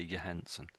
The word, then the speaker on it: Johansson: But when I hear people talking about her, I'm pretty sure they say Johansson.